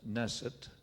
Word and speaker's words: Naeseth: base so that well now my name is nasset and if you been around a bit you know my name is spelled several different ways well I suppose and